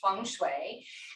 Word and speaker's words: feng shui: that means wind and water and it is pronounced feng shui and what the whole goal of feng shui